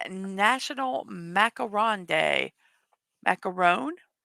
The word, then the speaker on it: macaron: Macaron? Because one O is macaron, two O's is macaroons.